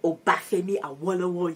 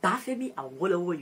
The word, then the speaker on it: Obafemi Awolowo: Nova Scotia, Canada, in Canada, and then in Obafemi Awolowo University. Oh, that one, I pronounced it correctly. Obafemi Awolowo University.